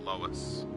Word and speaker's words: Lewis: Is it Lewis or Lois? I don't want to say it wrong. Must be Lewis. I have a buddy who spells it like that, but he pronounces it Lois.